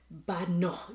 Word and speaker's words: Badenoch: Moving on, it seems Kemi Badenoch. Okay, I hear that, or I did some research, and the name is actually pronounced Badenoch. It's a Scottish name, as we all know.